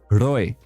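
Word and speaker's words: rooi: red right the color red in afrikaans it is roi you hear that r at the beginning you spell it r-r-o-o-i and you have to roll the r and it's like i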